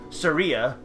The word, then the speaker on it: Syria: all right well technically her not name should be pronounced like surya not surya not like the country but she's a